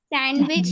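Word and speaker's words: sandwich: सैंडविच या सैंडविच सैंडविच सैंडविच नहीं सैंडविच सैंडविच silent है इसमें जी डी साइलेंट है डी जी से पहले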